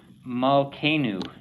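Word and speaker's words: מַלְכֵּנוּ: Malkenu is how you pronounce that.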